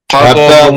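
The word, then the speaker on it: حطب: হাতাবুন Hatabun. হাতাবুন Hatabun. হাতে একটু টান চাপ হবে, আওয়াজটা একটু আগে বের হবে, হরফটা একটু পরে উচ্চারণ হবে।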